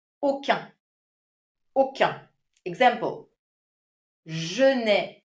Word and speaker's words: aucun: Aucun, mark the pronunciation. when what follows is a masculine word. However, if it's feminine, I would have to say aucune.